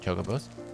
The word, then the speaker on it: chocobo: you take her or your steed i like chocobos it's chocobo by the way chocobos are